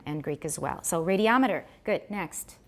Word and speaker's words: radiometer: Put the stress on the third syllable. Stress the third syllable. Listen to yourself say it in your head. What is the little tune we sing to stress it on the third syllable? Say it with mm. Okay, Jerome? Right. Try again. Yeah, finish. But make it a schwa at the end. The second to last syllable should have a schwa. Radiometer. There we go. Doesn't that feel good now?